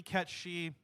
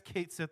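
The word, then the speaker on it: Cait Sith: they're pretty close it's it's supposed to be cat she I guess Kate Sith is fine Al technically that's the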